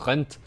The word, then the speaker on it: Rend: Alors aujourd'hui je vais vous présenter Rent, voilà Rent, ça se prononce Rent, un MMORPG de survie qui va sortir normalement en 2018.